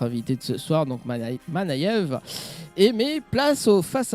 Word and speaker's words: Manayeve: Bah ça se voit avec notre invité Manève. C'est bien ça. Bonsoir. Ouais c'est ça. Tu as vu, je prononce bien.